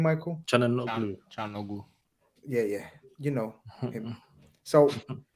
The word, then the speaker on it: Çalhanoğlu: Çalhanoğlu.